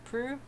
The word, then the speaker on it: Proulx: Proulx?